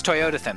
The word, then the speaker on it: Toyotathon: It's Toyotathon, like Jonathan, but with Toyotathon.